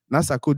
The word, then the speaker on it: Nasako: to me I said okay Sarco this is not how you say this is how you say it nasako this is not how